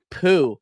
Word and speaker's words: Pu: his name was fam his name was fam Pooh and on the back of his jersey it was spelled like pu do you remember that